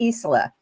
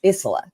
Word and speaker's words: Isola: Now I want to let you know that our guest next week is Reverend Kelly Isola. I said it wrong. It's Isola.